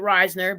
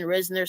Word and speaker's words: Risner: I finally pronounced it Reisner because I give up. Everyone says Reisner. I was stuck saying Risner, so it's Reisner now for me.